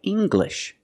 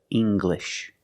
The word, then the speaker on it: English: an L after it when you have an L after it it makes the G sound like English make the heart G English or jungle tangle and